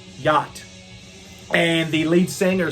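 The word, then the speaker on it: Jätt: debut full-length album and it's going to be called yacht which is spelled j a with the little umlauts over it so j a with the little umlauts tt yacht and the lead singer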